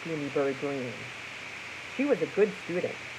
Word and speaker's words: Greene: My name is Gooney Greene. That's Green with a silent E at the end.